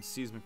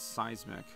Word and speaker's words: seismic: is trying to learn seasic toss that's how the N64 St announcer pronounced it I think it's seismic do we want to